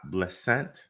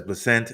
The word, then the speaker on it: Bessent: Apparently, Donald Trump has chosen a new Secretary of Treasury, and that is Scott Bessent, I believe is how you say that. It says Bessent, an advocate for deficit reduction and deregulation, is